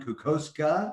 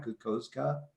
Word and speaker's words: Kokoszka: this morning's guest uh cuckowska am i saying it right kukozuka hey close enough man it's all good good